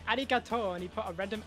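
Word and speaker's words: ありがとう: He just said arigato and he put a random accent on the O. Is that what? Why did he do that? Well, let me see. What? Because it's a long vowel, that's why.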